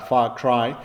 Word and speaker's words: Far Cry: Y he trabajado en muchísimos juegos, desde Assassin's Creed a Splinter Six, a Far Cry, si queréis que lo pronuncie a la inglesa, Far Cry.